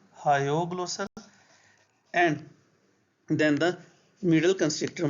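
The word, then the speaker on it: hyoglossal: it is hog glosser you should pronounce it as hog glossal hog glossal and then the middle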